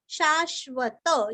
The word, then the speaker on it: शाश्वत: शाश्वत स्थिर शाश्वत, यहाँ का भी त पूरा पढ़ना है, स्थिर का स्थिरस्व।